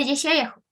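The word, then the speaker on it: ישעיהו: El profeta Isaías, su nombre proviene del hebreo, que sale ahí, es el del medio, y se pronuncia Yeshayahu.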